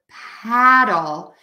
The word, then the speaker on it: paddle: and then we have the word paddle which has that very open American a sound and we have doll that's a better way to spell it paddle so petal you can